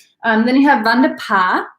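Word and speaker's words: pays: Then you have vin de pas. P-A-Y-S is just pronounced pas.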